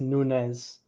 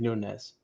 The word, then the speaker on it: Nunes: his own boots, some brand new boots, Mateus Nunes or Nunez. I don't know how to say it. I think it's Nunez.